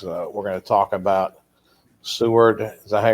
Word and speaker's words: Seward: edgar county watchdogs we're going to talk about seward as i pronounce it s-e-w-a-r-d township uh in kendall county